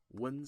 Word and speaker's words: wen: And the next one is wen sound. Wen, which is you can pronounce many O's and in an N, but it's not like the noon. It's like wen.